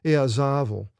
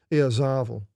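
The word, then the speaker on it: Ιεζάβελ: It's pronounced in Greek Eazavel. The accent is on the alpha. Eazavel. And it looks like a B, remember, as a va sound.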